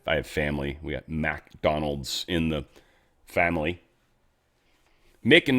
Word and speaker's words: McDonald's: We got McDonald's in the family. Mick and Mac are different. It's not McDonald's restaurant, obviously, though many people pronounce it that way. It's MC Donald's. MC is Mick.